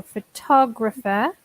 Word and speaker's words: photographer: it's a difficult workers you have to change the stress depending on the book so photographer and the object is the photograph maybe it's also worth